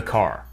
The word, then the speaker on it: car: Notice that the final R sound is not pronounced in British English. Father ends in a simple schwa vowel, like father. And in car, the vowel sound is lengthened in place of the R sound.